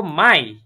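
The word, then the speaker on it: Mai: বলবো আমরা যেটা ইংলিশে মে বলি সেটাকে বলবো মাই ইয়া মাই আবার মাই মানে আমার না মাই মানে কি আমার না এটা হচ্ছে কি মে মাস ইয়া মাই জুন জুন কে বলবো ইয়া মাই মানে হচ্ছে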